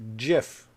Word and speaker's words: GIF: died and he said it's pronounced jiff with a j sound and people were like